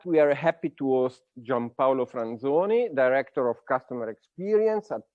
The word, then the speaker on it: Paolo Franzoni: And the fact that I pronounce the name in the correct way, in the pure Italian way, is because we are both Italian.